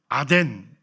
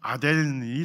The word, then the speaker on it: 아덴: 아덴. 그러니까 뭐 헬라어로 발음하면 아덴이 되는 거고, 이제 오늘날 이제 영어식 발음으로 하면 아테네가 되는 거고, 어쨌든 똑같은 도시입니다.